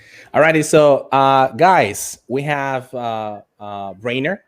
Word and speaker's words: Brainer: So Brainier is your name, right? How am I pronouncing correctly? How do you actually pronounce your name? Brainer. Brainer. Yeah, right? as brain, but As with brain.